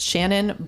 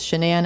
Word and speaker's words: Shanann: her name correctly um if you see it in writing you might glance quick and think it is Shannon but it is shanan and I I tried